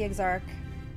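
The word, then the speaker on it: Exarch: to meet with the exarc it's pronounced eggs Arc right we need to talk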